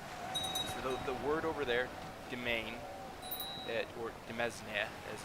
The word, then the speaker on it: demesne: So the word over there, domain, or demesne, as it's spelled, is actually properly pronounced domain.